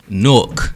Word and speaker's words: Newark: Newark.